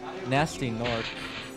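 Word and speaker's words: Gnasty Gnorc: Remember, the G is silent. It's actually pretty funny in the cutscene. The final boss is called Nasty Nork.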